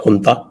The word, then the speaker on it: junta: अब ये यहाँ का जो इंटरनल जो झगड़ा चल रहा था, इनकी जो हुंता है, JUNTA प्रोनाउंस एज हुंता, तो ये इनकी जो